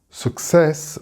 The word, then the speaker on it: success: Success, with the stress on the cess, success.